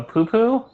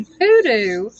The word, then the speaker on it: poodoo: A poo-poo? No, a poodoo. Unless I'm saying it wrong. I'm But I dead. swear it's spelled poodoo. Poodoo.